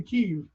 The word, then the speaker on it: Kyiv: Just like Kiev is actually Kyiv.